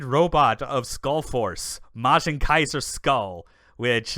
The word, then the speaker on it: SKL: you've been pronouncing it, yes, it is spelled SKL, but it is pronounced Skull.